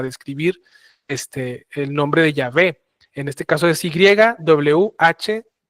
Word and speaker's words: Yahvé: eroditos bíblicos, la más la traducción más correcta y más cercana a la original es Yahvé. Yahwé.